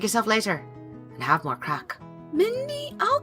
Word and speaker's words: craic: what crack no no it's not what you're thinking it's spelled like this honey grabs a napkin